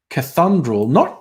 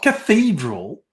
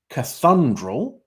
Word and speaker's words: Cathundral: Anyway, Tungi, Tomingli, Terramungamine, Mogragai, Umunjeri, the Goonoo Forest, Ballymore, Elong, Dunedoo, Comabella, Bodangora, Montefiores, Trangie, Narromine, Cathundral, not Cathedral, Cathundral, Snake's Plain, Never Tire, Gin.